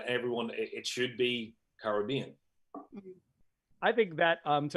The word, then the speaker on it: Caribbean: Let's do, we've got one for Caribbean. Caribbean. It's Caribbean. They were the Carib Indians. Yeah, right? They're the Caribs, so it's for sure Caribbean.